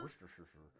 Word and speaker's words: Worcestershire: worcester sauce look england there are letters here w-o-r-c-e-s-t-e-r-s-h-i-r-e those letters form syllables war cess per shire worcestershire or cesar